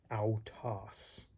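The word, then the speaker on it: αὐτός: example of oikia, and ow as in sauerkraut, ow, autos.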